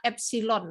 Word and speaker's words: epsilon: ceklah di Google gimana cara nulis itu Tapi bacanya adalah epsilon masuk saya sama mengatakan dia epsilon ya epsilon itu kalau kita tulis Eyang saya